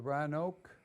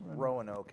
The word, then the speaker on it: Roanoke: is one of them the Ryan Oak times he always correct my pronunciation it's Roanoke actually Roanoke no I don't